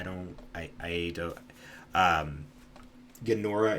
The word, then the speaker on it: Ganora: I don't I I don't um Ganora is ge n o r a gora. Um, or genora is how you could also pronounce it. um depending on your dialect.